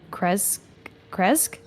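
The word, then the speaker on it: Krezk: Kresque.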